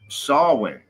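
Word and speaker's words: Samhain: Shawin. It's spelled so weird, but it's not. You don't That's not the way it said. I had to look it up. Sin. Saw. Sawin. but it's spelled s a m h a i n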